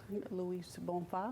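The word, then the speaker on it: Luiz Bonfá: I want to make sure the pronunciation of the gentleman that wrote the song. Louis Bonfa?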